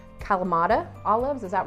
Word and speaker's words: Kalamata: gonna butcher the name, but I believe it's pronounced Kalamata Olives, is that right, babe? Kalamata.